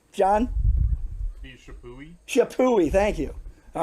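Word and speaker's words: Chappuis: both muli and this guy uh I say chipe I know there's about 15 different pronunciations for the name John he shapi shapi thank you all right I cheated um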